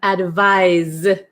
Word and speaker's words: advise: number eight we have advise advise okay so this is like more of a z sound oh okay Erica is